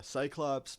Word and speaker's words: Psychlops: Cyclops, but it's spelled P-S-Y-C-H, Lops.